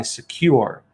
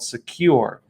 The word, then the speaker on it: Sekur: cyber security application tool called secure that's spelled s-e-k-u-r and secure is offering